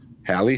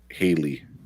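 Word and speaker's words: Halle: Is it Haley or Hallie? It was Haley, right? I think it's Hallie. Hallie? Hallie. Okay. But yeah, I always heard like people say Haley.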